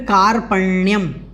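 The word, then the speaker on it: कार्पण्यम्: तो हमें ध्यान रखना है शौच्यम, शौच्यम जो है इसको ठीक तरीके से बोलना है। फिर कार्पण्यम, कार्पण्यम इस प्रकार से इसको बोलना है।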